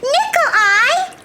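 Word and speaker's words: Nicolai: he began his tour nickel eye that's a funny first name did he have eyes that looks like nickels it sounds like that but it's spelled n-i-c-o-l-a-i boys and girls take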